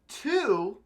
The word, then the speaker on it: tú: Now, you're probably thinking, Nate, but tú and tú, they sound exactly the same. You know what? I don't hear the difference. Well, there is no difference. Tú and tú, pronounced exactly the same.